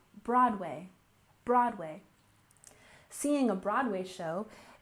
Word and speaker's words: Broadway: next we have Broadway remember Broadway has emphasis on the first syllable Broadway Broadway seeing a Broadway